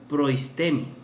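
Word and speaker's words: προΐστημι: La palabra gobernar que se utiliza en la palabra de Dios en Romanos, mis amados hermanos, Romanos 12, versículo 8, se pronunciaría en el griego proistemi, que viene siendo gobernarse a sí mismo como tener el poder para gobernar.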